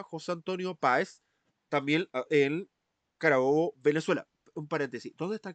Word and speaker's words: Carabobo: Está está lo pronuncié bien. Sí, sí, Carabobo.